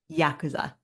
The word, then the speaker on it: Yakuza: Yakuza. Huh. Each syllable has the exact same inflection.